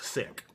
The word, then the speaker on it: sic: So you could put in brackets the three letters SIC, which I'm going to pronounce sick.